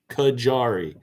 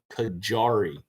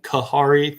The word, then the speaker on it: Kajari: melon, and it's called Kajari, like a hard J, I guess, or almost like a G. I was pronouncing it Kahari, thinking the J would